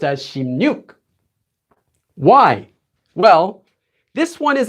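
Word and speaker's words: 십육: regular sound change rules, right, this would be pronounced as 시byuk, right? 시byuk. But it's not pronounced as 시byuk. It's not pronounced as 시byuk at all. It's actually pronounced as 심육.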